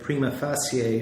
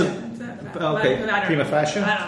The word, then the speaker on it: prima facie: This can result in large groups being declared prima facie refugees, and I may have mispronounced that. It's F-A-C-I-E. Because prima facie?